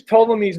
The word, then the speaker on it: Ptolemy: By the way, you don't pronounce the P. If you use Ptolemy's map, then when you